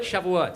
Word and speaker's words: Shavuot: Is that other one? Shove it? Shavuot. Stop trying to pronounce it.